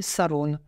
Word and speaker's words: saroun: ou en Somalie, où il va s'appeler saroun, la prononciation locale du mot sarong qui nous ramène en Asie.